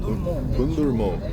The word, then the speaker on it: Hundarman: Hundarman.